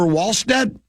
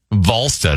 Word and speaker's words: Wallstedt: Jesper Wallstedt. Volstead, actually. It's a V. Or it sounds like a V.